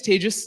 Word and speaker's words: Tejas: My name is Tejas. That's pronounced like contagious.